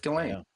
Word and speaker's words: Ghislaine: Ghislane, and let's go with Ghislaine. Yeah, yeah. GH Let's. is confusing at the beginning of a word, as is a silent S in the middle.